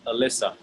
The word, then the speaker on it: Alyssa: coalition go out outside in the united states we pronounce that name alyssa okay this stuff maybe you're